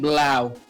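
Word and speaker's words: Bleu: Technically, it's named Blau. B-L-E-U. Ow. Blue, okay. Yeah. Blue. As a kid, I always pronounced it Blue.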